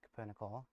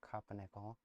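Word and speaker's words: Cupronickel: Just made some capernicle coils which I figured out that it's pronounced capernicle not copper nickel.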